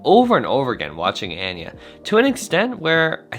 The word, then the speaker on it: Anya: to say my name it's anya and yeah and yeah yeah i'd say like aneurysm i'm trying to find